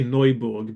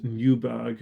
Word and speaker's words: Neuburg: I'm going to say Neuburg, by the way, not Newburg or whatever English speakers might think of saying, because it looks like a German name. I'm going to pronounce it like it's German.